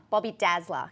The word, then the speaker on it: Bobby Dazzler: Bobby Dazzler. Can you say, don't pronounce the R?